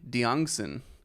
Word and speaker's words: Diongzon: Benton Crane and today I'm joined by diongson did I say it right that was